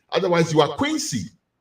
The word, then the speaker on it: Kwesi: And I said, "My name is Quincy." "Oh, Quincy." I said, "No, Quincy."